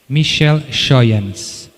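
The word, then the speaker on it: Michel Schooyans: Como se escreve? M-I-C-H-E-L, e depois o apelido é S-C-H-O-O-Y-A-N-S. Michel Schoyans.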